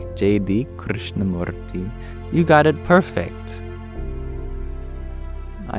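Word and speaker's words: Krishnamurti: and Al you share you might get his name wrong but do I like JD Krishna morti you got it perfect I have also heard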